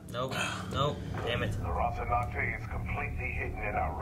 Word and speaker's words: Rocinante: Rocinante. Maybe it's a live rehearsal. Still don't say it right, Eric. You skipped the second end. Rocinante.